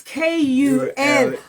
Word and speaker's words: Kule: It's Kule. And then the T, not cool as in cold, no.